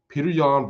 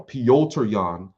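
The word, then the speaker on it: Petr Yan: so stacked we had hamzad against gilbert burns peter young versus al james third no pyoter leon i know how to say his name yeah now pyotr yan against al james starling al although i should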